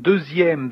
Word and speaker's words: deuxième: You can hear that here in deuxième that the letter X is like is pronounced like a Z, deuxième actually.